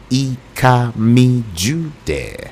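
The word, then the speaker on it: Ikami Judeh: And don't forget, on social media, I am Ikami Jude. It's spelled IKAMIJUDEH.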